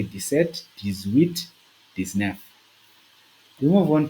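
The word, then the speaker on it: sept: see that we pronouncing set the t is pronounced whe the t is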